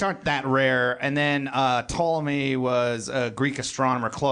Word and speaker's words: Ptolemy: Yeah, I said, is it Ptolemy? And you said that's the correct pronunciation, but it's not the American pronunciation. Yeah, more English would be Ptolemy. Greek would be Ptolemy. They actually pronounce the P. Ptolemy.